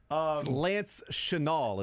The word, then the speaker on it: Chenal: Lance Chenal is how you pronounce his last name.